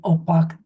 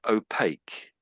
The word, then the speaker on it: opaque: I think I said opac. So yeah, that's pretty that's sort of it. Um but but I would say this is opaque.